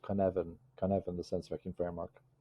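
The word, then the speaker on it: Cynefin: foreign how does complexity help leaders navigate complexity there's a wonderful leadership decision framework called kanevin the sensor vacuum framework c-y-n-e-f-i-n pronounced convene and it was created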